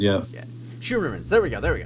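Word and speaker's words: Scheuermann's: my German pronunciation but shoo our Dutch pronunciation shoo more man's disease it's a condition causes the lower upper back to curve and gives Lucic essentially his hunched-over posture and yeah yeah Sherman's yeah Sherman's there we go there we go thank you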